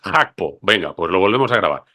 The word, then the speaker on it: Gakpo: nos dijeron Pues mira ni gpo ni gakpo es hapo Venga pues lo volvemos